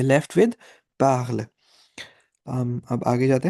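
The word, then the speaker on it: parlent: Right, E एन टी को हम ओ या ए ऐसा कुछ प्रोनाउंस नहीं करेंगे। We would just pronounce it एज पार्ल, because E हैज अ साइलेंट sound in French.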